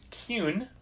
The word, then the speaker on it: Kuhn: And it's Kuhn, by the way. It's Kuhn. Kuhn. I mispronounced it.